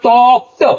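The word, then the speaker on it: talked: टॉक में जब ईडी लगाएंगे तो फिर होगा टॉक्ड, टॉक्ड नहीं होगा, टॉक्ड।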